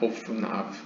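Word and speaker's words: אפניו: 오프나브. 여기 영어로 표기는 아펜 아브라고 써 있는데 사실 이거는 이제 알레프를 썼다는 걸 표현하기 위해서 A 대문자를 쓴 거고요. 발음은 오프나브입니다.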